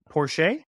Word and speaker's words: Porsche: is that correct pronuncio porch I thought it I thought it was por porsch like borch it's like yes yes be beet soup um so we've got